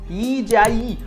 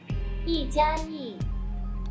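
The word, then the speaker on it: 一加: तो यहां पे तीसरा मतलब है, चाइनीज में वन प्लस को प्रोनाउंस किया जाता है यी जाई। एक्चुअली मैं थोड़ा गलत कर रहा हूं, इनसे खुद से ही बुलवा लेते हैं। अब सुनो, यी जाई, यी जाई।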